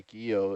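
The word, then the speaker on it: guyot: question but technically a gea it's a guillotine you don't pronounce the t on there okay but um the sort of classic definition of a geo is a flat top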